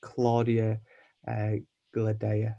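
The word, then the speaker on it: Cláudia Gadelha: So I'd probably put her up against Claudia Gladea. That's how you say her name. You are correct.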